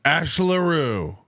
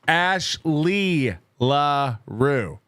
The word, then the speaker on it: Ashley LaRue: So it's Ash LaRue. It's Ashley LaRue. You don't get to leave out a syllable because 2 of them start with L's.